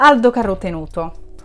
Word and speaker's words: Aldo Carotenuto: livro de ald carotenuto ele é italiano então a pronúncia é italiana tá gente Aldo carotenuto O Diário de Uma